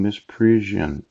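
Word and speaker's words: misprision: I have been misspelling miss prison yes I think I've been mispronouncing it yeah it's not mi as PR is Oh n-no it's miss prison of treason you know every time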